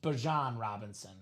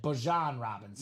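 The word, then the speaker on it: Bijan Robinson: So he did say he wants to be pronounced Bjan Robinson. Well, I don't know if he said he wants to be pronounced, but he said that's the correct pronunciation. Bjan Robinson.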